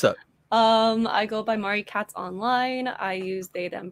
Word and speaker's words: Marikatz: murray cats and then i'm on twitch as mari katz um a lot of people call me mari as well that's just kind of become a thing also tick tock marie cats pronouncing your name wrong in my head the